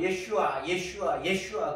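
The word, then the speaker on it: ישוע: 히브리 본 발음은 예슈아 그러거든요.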